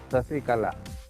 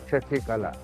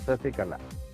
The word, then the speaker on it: Sasikala: Actually pronunciation Tamilians or Malayalis, they will call Sasikala, not Shasikala. They will say Sasikala.